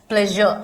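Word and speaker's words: pleasure: प्लेजर में जो SURE है उसको आप क्या पढ़ते हैं, प्लेजर। आप इसको ट्रेजर नहीं बोलते हैं, या श्योर नहीं बोलते हैं, या श्योर नहीं बोलते हैं, प्लेज श्योर नहीं बोलते हैं, इसका प्रोनाउंसिएशन ये होता है।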